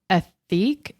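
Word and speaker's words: Ethique: a company based out of New Zealand called ethic ethic and but it's spelled e t h i quu e and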